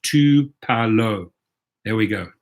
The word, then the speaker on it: Tupelo: So Mark Rowden says it is pronounced Tupelo. There we go, Tupelo.